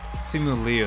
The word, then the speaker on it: Simu Liu: Simu Liu, that's how it's pronounced.